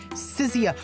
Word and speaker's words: Sicia: Promeia looks at she's Oh my god, I keep mispronouncing her name. Sicia. Sicia. Why do I keep thinking there's an H there? Sissia.